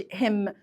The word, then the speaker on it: him: وبصوا بقى embarrass him يعني ما بقولش him. الامريكان اكسنت طاغيه عليا شويه معلش يعني اعذروني. ما بقولش him. خلي بالك الهم والهر والهز ما بنطقش الاتش اصلا في وسط الكلام.